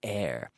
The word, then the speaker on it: heir: is little deceiving here but we say air he is the heir to a large fortune